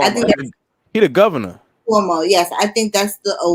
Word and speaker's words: Cuomo: Cuomo, is that how you pronounce his name? Cuomo. I think he the governor. Cuomo, yes.